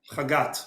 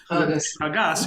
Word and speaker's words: Chagat: Or if you say it like an Ashkenazi, which most Hasidim are, so Chagas, you would say Chagat, you would say Chagas.